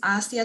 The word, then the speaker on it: Assi: pronounce your name because i don't want to pronounce it wrong okay so my whole name is asiya and everyone calls me asi asi love